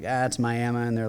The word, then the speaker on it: Miami: they're be like oh yeah I went to Miami Oklahoma and we're like that's Miama and they're like I went to tiua we're